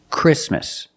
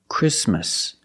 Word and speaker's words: Christmas: we don't say Christmas the t is between consonant so it is silent link the sound s with the m Christ Christmas Christmas and it's not